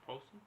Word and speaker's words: Paulson: No, it's Sarah Paulson. Paulson, yeah. Okay, I was like... Oh. Rhymes with Adrian Coulson.